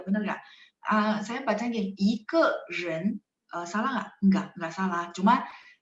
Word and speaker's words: 一个人: Nah, jadi kalau lagi praktek ngomong, kadang-kadang mereka bacanya nada kelima, 一个人. Jadi nggak terlalu 一个人, jadi kayak kita kalau ngomong jadi kaku banget gitu ya. Santai aja maksudnya ya, 一个人. Jadi ke-nya jadinya diucapin dengan nada 5.